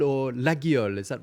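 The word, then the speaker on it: Laguiole: You can actually pronounce this Leol or Liel. Is that right? Yes. In the southwest of France, we pronounce Lol because this name comes from a local language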